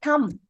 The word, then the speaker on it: thumb: Okay, so we don't say thumb, we say thumb. B is silent.